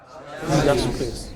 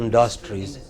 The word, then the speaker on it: industries: the first word here Industries it's not Industries it is Industries what is it Industries yeah but lot of people said industry it is not industry it is industry what is IT